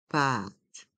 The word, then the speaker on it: pâte: et un paqué pâte le a avec un accent circonflexe est un A qui est long a pâ a pâte le thé de pâte reste en suspens pâte pâte un paquet de